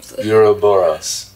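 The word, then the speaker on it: Ouroboros: it's a you borrow euro Boris that's one of two known pronunciations the Sumerians called it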